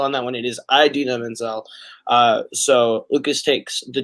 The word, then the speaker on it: Idina Menzel: okay, let me make sure I pronounce this correctly. Indina Menzel?